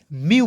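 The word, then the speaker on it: mew: देखिए एम ई डब्लू तो क्या पढ़ेंगे? एम का आधा म, ई डब्लू का उच्चारण यू के रूप में करेंगे, तो एम ई डब्लू को क्या पढ़ेंगे दोस्तों? म्यू पढ़ा जाएगा।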